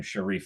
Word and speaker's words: Sharif: It's called the Sheriff just because everyone always mispronounced my name Sharif as Sheriff, and so I thought it was a little kind of cool way to sort of take advantage of that.